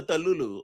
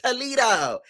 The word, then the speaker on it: Toledo: She said, "Take that hoe back to to take that back to Toto. Take that back to Tulu." Okay. Josa mispronouncing everything. She like, "It's Toledo, Ohio."